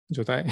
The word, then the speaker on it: Jotai: Jotai, yes.